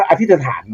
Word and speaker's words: อธิษฐาน: จาก ไอ้ อินเดีย น่ะ อย่าง ว่า อธิษฐาน ใช่ มั้ย จริง ๆ แล้ว มัน อ่าน ว่า อธิถาน นะ อ่า ถ้า ใน บาลี